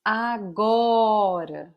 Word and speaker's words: agora: Agora, agora.